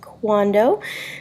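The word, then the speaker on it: cuándo: word no accident because when is quando CU a nd o accent on the a how is como si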